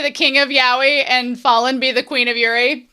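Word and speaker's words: Falin: I've also been told that you pronounce her name Fallen.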